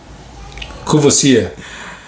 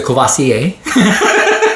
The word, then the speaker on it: Courvoisier: Courvoisier. So it's a Courvoisier. Courvoisier. It's French, man. I know, but I tried. You did great. Courvoisier. Yeah. Courvoisier. Hey, that's it. Courvoisier. Yeah, it's the Courvoisier.